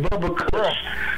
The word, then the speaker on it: Bubba Kush: so he called it Bubba he calls it Bubba Kush so it's pronounced bu U VB a Kush not bubble it's not a mispronunciation or misunderstanding okay but